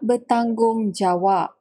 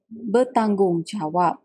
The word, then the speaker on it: bertanggungjawab: Bertanggungjawab and bertanggungjawab, both pronunciation people use for speaking. But commonly, tak bertanggungjawab. Tak bertanggungjawab. We don't really stress much on that R.